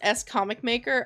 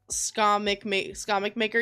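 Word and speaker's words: SComicMaker: be nice to me or stop no it's pronounced s comic maker I've been calling you scum maker yeah a lot of people call me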